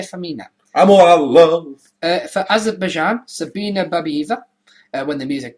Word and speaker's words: Azerbaijan: An 8-woman group of older ladies from Russia have qualified for the Eurovision 2012 in Azerbaijan, and that is how you pronounce it, with their song Party for Everyone, Party for Everybody, having fought since 2010 to represent their country.